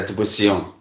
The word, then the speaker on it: Dubisson: It's Dubussion. Okay, so that's the correct pronunciation.